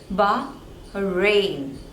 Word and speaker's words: Bahrain: one Bahamas Bahamas Bahamas next one is Bahrain again there are two syllables and the stress is on the second one Bahrain Bahrain Bahrain next one